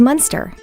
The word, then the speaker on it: Muenster: hot dog shaped truck note the difference in spelling and pronunciation french monster american munster aged up to eight